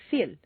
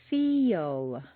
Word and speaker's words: feel: If you say just the letters that you see, it will sound more like Phil or Phil. You need to say feel. Is that really a Y?